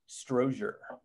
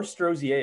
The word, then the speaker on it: Strozier: how to pronounce it strozier or strozier if you want to be fancy I think I'm going to change it once I hit 50.